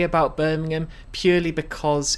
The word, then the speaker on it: Birmingham: It's pronounced Birmingham, not Birmingham.